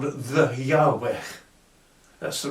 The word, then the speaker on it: Yahweh: is actually a race of beings called the Yahweh that's the right pronunciation for it so they were one lot